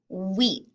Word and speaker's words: wheat: Next we have a picture of wheat. So again, if you take a look at that word, you'll see the WH, but we don't pronounce it eat. We just say wheat.